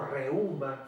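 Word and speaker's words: reúma: Otra palabra que ustedes van a escuchar cuando trabajen, cuando estén ejerciendo la profesión, van a escuchar la palabra reuma o reuma con acento en la U, o reumatismo, ¿verdad?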